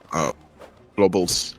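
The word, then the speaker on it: Oblobbles: Actually I was pronouncing it wrong earlier. Oh blobbles.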